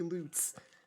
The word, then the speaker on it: Luts: and real um like Luts I guess it's apparently loots is how you're supposed to pronounce it um and yeah at